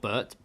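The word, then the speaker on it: Birt: It's like it's like Bert, but with an I instead of a U. God, that's a great. Oh no, isn't That's it hard you? to say. Isn't Bert you?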